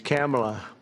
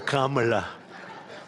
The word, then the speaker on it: Kamala: first name that we have, but fortunately it's pronounced different. It's Kamala. As opposed to Kamala.